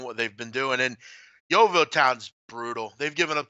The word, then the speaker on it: Yeovil: Is that pronounced correctly? Yeovil. Yeah, Yeovil That's Town.